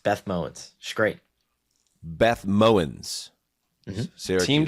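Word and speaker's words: Mowins: That's Beth Mowens on the call, one of the great underrated play-by-play announcers, Syracuse University grad.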